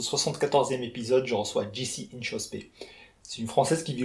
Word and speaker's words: Inchauspé: Comment on prononce ton nom de famille? Très bonne question. Inchospé.